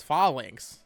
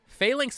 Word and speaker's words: Phalanx: broke my heart someone commented this I've always pronounced Phalanx as fallings I think falling sounds better Phalanx makes more sense I'll admit but I'm kind